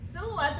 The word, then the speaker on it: silhouette: Silhouette, the pronunciation would be S-I, it's a short vowel sound.